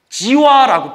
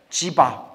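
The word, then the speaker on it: जीव: 이것을 지와라고 불러요. 지와. 예, 지바라고 불러요. 지와, 지바. 지바와 지와 중간 발음이더라고요. 지바.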